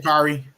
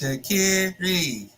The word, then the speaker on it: Sha'Carri: Sha'Carri. I just see the video of her talking, my name is Sha'Carri.